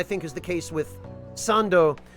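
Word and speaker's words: サンド: is the case with sando as opposed to sandi, which does sound kind of awkward in Japanese if you try to say it.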